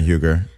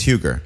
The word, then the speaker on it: Huger: So did I say, so the last name is Huger? It is Huger.